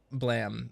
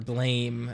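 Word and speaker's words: Blame!: is even remotely like this uh blam or blame as it looks like it's spelled but it's not actually what it is oh my God these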